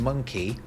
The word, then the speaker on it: monkey: Why are the O's in monkey and donkey different? I guess mun and don. Yeah, so they're pronounced differently, aren't they? Monkey. It's got like a U sound.